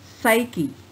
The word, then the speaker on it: psyche: Psychology, psyche. Pa is silent in these two words.